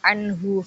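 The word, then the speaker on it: عنه: Yang dimaksud bacaan idharnya itu yang anhu. Jadi ada mati ketemu dengan huruf H, itu dibacanya jelas, jadi nggak dengung dan juga nggak samar gitu, jadi dibacanya tetap anhu gitu.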